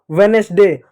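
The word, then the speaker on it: Wednesday: वेडनेसडे गलत है। वेडनेसडे वेडनेसडे होता है। वेडनेसडे नहीं वेडनेसडे डी ये साइलेंट होता है।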